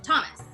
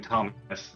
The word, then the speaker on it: Thomas: For instance, my name, Thomas, has a H in it, but I'm not going to put it in there because you don't pronounce the H in Thomas.